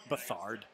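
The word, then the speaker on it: Beathard: Bethard. Rhymes with another word. Hoisted on your own petard.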